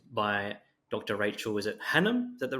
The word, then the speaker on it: Hannam: today we're joined by Dr Rachel is it Hanam is that the right pronunciation that's the right pronunciation lovely how you